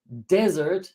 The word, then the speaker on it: desert: up at the end whereas this one here desert the accent is on the first syllable dessert desert desert desert